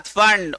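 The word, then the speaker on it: Pfund: बाद फंड, उसके बाद, इसको फंड बोलना सिर्फ, पी साइलेंट है, फंड नहीं, सिर्फ। हाँ जैसे स्यूडोपोडिया में पी पढ़ते हो क्या, और साइकोलॉजी में भी पी नहीं पढ़ते हो, इसमें भी पी नहीं पढ़ना है, ठीक।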